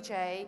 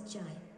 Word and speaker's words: Jai: It's not really Jay, it's actually my son's name is Jai. So Poly knows the difference between Jay and Jai, and so you can identify customized pronunciation when you create your speech.